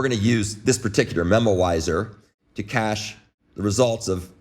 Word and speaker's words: memoizer: called a memoizer and a memoizer is is not a mispronunciation of the word memorizer it's actually something called a memoizer and it's a it's